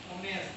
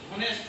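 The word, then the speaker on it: honest: তো এটা কিন্তু হনেস্ট উচ্চারণ হওয়ার কথা ছিল ঠিক আছে কিন্তু হনেস্ট উচ্চারণ হয় না কি হয় হনেস্ট কিন্তু অতি উচ্চারণ হয় তাহলে এইচটা কি চুপচাপ আছে সাইলেন্ট আছে এর এজন্য এর সঙ্গে কি হবে?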